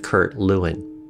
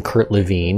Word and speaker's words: Lewin: to the United States he told people to pronounce his name Lewin anyway Kurt Lewin was